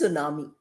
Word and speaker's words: tsunami: Tsunami is spelled with a T, although the T is not pronounced. We will do pronunciation classes later. But today I'm telling you that it is pronounced as tsunami.